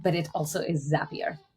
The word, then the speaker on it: Zapier: global head of talent strategy and operations at Zapier. How did I do on the pronunciation? First and foremost, you did great in the pronunciation, but it also is Zapier.